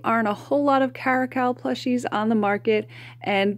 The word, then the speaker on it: Caracal: I always feel like I'm mispronouncing it, but I believe the correct pronunciation is Caracal.